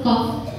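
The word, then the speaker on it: ق: Qaf itu huruf lisaniyah tapi yang bagian belakang.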